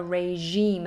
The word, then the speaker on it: regime: Regime is a good word, a regime. Again, that uses that kind of French je sound, regime.